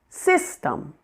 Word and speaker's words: system: Number 2, system. The first part, sis, is the primary stress syllable.